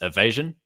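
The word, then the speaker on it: A' Mhaighdean: on the right is evasion. Um, you wouldn't think it's called that from the way it's spelled, but that's how it's pronounced.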